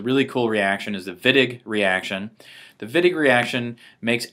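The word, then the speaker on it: Wittig: you can think about the vidic reaction as pronounce it viig like a V you can think of the viig reaction as the opposite of ozonolysis we're taking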